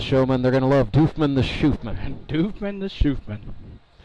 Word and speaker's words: Doofman: It's spelled like it should be Doman, but it's actually pronounced Doofman.